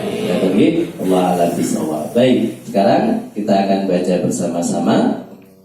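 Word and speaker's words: ب: Tapi ternyata di dalam bahasa Arab pengucapan huruf ba itu sama seperti pengucapannya huruf B orang Jakarta. Ba, bi, bu, tidak mengeluarkan nafas.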